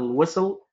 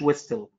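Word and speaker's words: whistle: فاينل ويسل، فاينل ويسل حرف التي في كلمه ويسل سايلنت صامت لا ينطق، مش ويستل، فاينل ويسل الصافره النهائيه، صافره اعلان نهايه المباراه.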